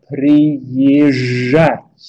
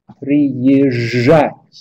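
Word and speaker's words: приезжать: Därför så gör man inte det, utan man uttalar istället ett långt j. Så man uttalar som så att säga två stycken j istället. Och då blir det prijat, prijat, prijat på det sättet.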